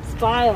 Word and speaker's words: spile: Spile, that's right. Ah, good job, Danielle. You remember. And what does it rhyme with? Smile.